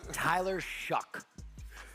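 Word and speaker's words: Shough: Spelled with an S. Slow. No, it's Tyler Shuck.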